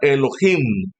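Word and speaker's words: אלוהים: En hebreo, Dios se pronuncia Elohim, y Elohim abarca al Padre, al Hijo y al Espíritu Santo.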